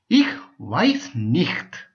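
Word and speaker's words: ich weiß nicht: பாவிக்க வேண்டிய ஒரு வார்த்தை இஹ் வைஸ் நிஹ்த் அப்படின்னு சொல்லி சொன்னால் எனக்கு தெரியாது இஹ் வைஸ் நிஹ் அப்படின்னு சொல்லுவாங்க அந்த நிக்த வந்து காரி உச்சரிக்கிற மாதிரி செய்வாங்க சோ நீங்க உங்களுக்கு எப்படி பிடிச்சிருக்குதோ அப்படி செய்யலாம் நான் வேணும்னா உங்களுக்கு கூகுள்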